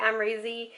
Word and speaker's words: Amrezy: And it's the Amrezy, I think that's how you say it. I've like come to realize that's how you say it. Amrezy Anastacia Beverly Hills palette.